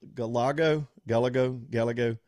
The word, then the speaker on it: Gallego: So this Galeo, am I pronouncing his name right? Gallego.